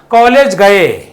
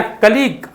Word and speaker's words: colleague: चलिए, कलीग, देखिए बहुत सुंदर वर्ड है, इसको बहुत लोग क्या उच्चारण पढ़ते हैं पता है, कॉलेज गए, ठीक है, कॉलेज गए ऐसे पढ़ता है, COLLEAGUE, लेकिन इसको पढ़ते क्या, कलीग, आपके साथ काम करने वाला।